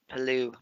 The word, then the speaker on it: Palou: Pronounce that name. Palou.